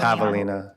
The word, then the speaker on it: javelina: It's pronounced javelina.